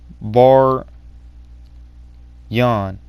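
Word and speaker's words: Baryon: it actually gave the name for the mode var yawn yeah i think i'm pronouncing that right b-a-r-y-o-n yeah so basically he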